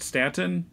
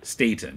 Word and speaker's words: Staton: but you know so Jo Stanton is that's a pronunciation correct Stanton more like state Staton okay he's drawing it